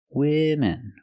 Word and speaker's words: women: the plural form women women use a short I sound like this is for both syllables women women so it's correct